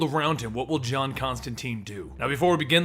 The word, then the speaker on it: Constantine: But in America, it was mispronounced to be Constantine early on, and the pronunciation then